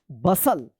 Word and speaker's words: bustle: अपोसल, T silent रहेगा। BUSTLE क्या पढ़ेंगे? बसल।